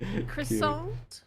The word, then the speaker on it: croissant: As a true Southerner, I will forever stand by pronouncing the T even though it is not correct. Croissant?